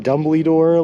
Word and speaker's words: Dumbledore: and chat for everyone I always say Dumbledore like dumbly door like the giant woman says in the movies LOL I thought that